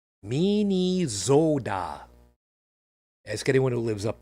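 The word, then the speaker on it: Minnesota: all dead now so this week it's properly pronounced Min Zoda ask anyone who lives up there preferably not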